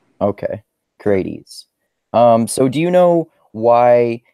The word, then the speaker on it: Crates: pronounce his name Brad I usually say in the ancient Greek words usually say via the vowels kind of as long vowel sounds okay I wasn't sure if it was that way or the other way yeah most people pronounce it Grady's okay great ease so